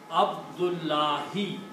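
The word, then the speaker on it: عبد الله: But all you do is from the first word, you take out one Dhamma. And the second word, you change this last Dhamma to a Kasra and pronounce it Abdullahi.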